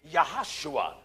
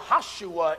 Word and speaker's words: Joshua: the son of nun there is no JS in the Hebrew language so the proper pronunciation of Joshua would be yahushua that's right yahushua in English is Jesus